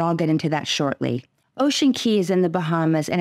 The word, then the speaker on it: Ocean Cay: welcome I've been to Ocean Key twice and it is pronounced key I believe ocean key